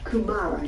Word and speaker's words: kumara: You called it kumara, is it?